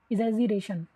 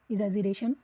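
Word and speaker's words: exaggeration: इजिरेशन। मैं इसकी स्पेलिंग आपको बता देती हूं। ई एक्स A double ji ई आर ए टी आई ओ एन इजिरेशन no shell death break Dau वंडरेस्ट in shade.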